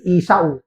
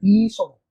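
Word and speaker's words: Esau: And Jacob lift up his eyes and look and behold is so ang dati basa ko diyan ay isaw. Pero pag ano pala 'yung tamang pronunciation ay iso 'di ba?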